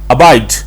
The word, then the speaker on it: abide: डाला, अबाइड नहीं करना, ह की आवाज नहीं निकलनी चाहिए, जस्ट आपने हल्का सा क्लिक करके निकल जाना है। अबाइड ट्राई करें, ये आपका बहुत बेहतर हो जाएगा।